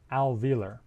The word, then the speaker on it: alveolar: term to most people alveolar notice its odd spelling we don't pronounce that o but it is there in the spelling since we don't have